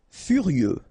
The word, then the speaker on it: furieux: Furieux, okay, final X not pronounced, furieux, furieux.